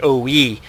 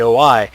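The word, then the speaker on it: O-I: Actually, it's pronounced the OE, but we all tend to call it the OI.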